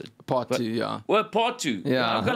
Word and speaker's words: Darling pt. 2: Yeah, is that how you pronounce it? Part two.